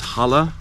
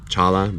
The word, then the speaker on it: challah: This is challah bread, or some people might say challah because there's a C, but the C is silent usually.